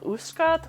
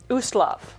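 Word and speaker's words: Ustalav: in the country of Uskat. I'm not really sure if I'm pronouncing that correctly. It is Uslav.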